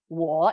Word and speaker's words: 我: Like I is 我. These little marks just give you the tone. 我, like a curving sound.